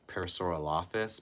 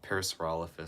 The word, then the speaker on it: Parasaurolophus: For most of my life, I pronounced it as Parasaural Office, but now Parasaurolophus sounds like cleaner, you know?